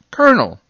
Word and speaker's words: colonel: make the r sound c o l o n e l is pronounced kernel well i think you